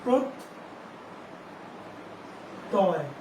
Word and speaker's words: প্রত্যয়: আর জ ফলাটা যদি মাঝখানে থাকে তাহলে সেই বর্ণটা দুইবার হবে, তটা দুইবার হবে প্রত। তাহলে এখানে অক্ষর শেষ হচ্ছে প্রত তয়, এখানে অক্ষর শেষ হচ্ছে তার জন্য এখানে হর্ষ চিহ্নটি ব্যবহৃত হবে।